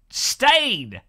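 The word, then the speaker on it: Stijn: Just say my name right. Stain 324. Was that right? Like stain remover. I mean, look, if you've got a J, put before the last look a J and then an N. It's ridiculous. It's the most absurd name to pronounce ever. How does S-T-I-J-N pronounce stain?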